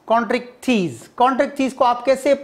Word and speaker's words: Chondrichthyes: Class Chondrichthyes, cartilage fishes. How to pronounce Chondrichthyes?